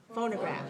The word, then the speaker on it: phonograph: graft phonograph so the second syllable is reduced reduced reduced all right so make careful be careful not to say phono say phone phonograph all right so make